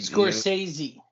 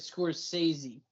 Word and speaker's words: Scorsese: says he is like Scorsese okay you're saying it wrong but anyway The Score says he yes it is it scores sazie either way I heard